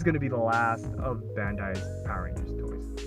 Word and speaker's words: Bandai: super sentai which is all like pronounced Bandai like that's all pretty